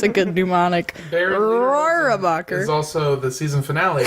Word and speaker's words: Rohrabacher: Rohrabacher. Thank you. Rohrabacher.